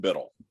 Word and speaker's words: Biddle: way to say your last name I'm Biddle and most people call me in the